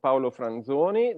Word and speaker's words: Paolo Franzoni: And the fact that I pronounce the name in the correct way, in the pure Italian way, is because we are both Italian.